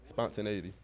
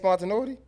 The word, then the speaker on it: spontaneity: Spontaneity. It ain't spontaneuity.